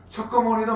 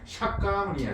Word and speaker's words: 석가모니: 샤 석가모니 그러잖아 그죠 석가모니도 마찬가지야 원래 발음은 샤카무니 샤카무니 카니 카니 이것이 뭐다